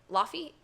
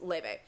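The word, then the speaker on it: Laufey: Laffy? Leve. It looks like it's spelled Laffy, but it's Leve.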